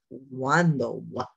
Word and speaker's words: cuando: Like I might say cuando, which means when, but I said cuando. That sound is in there.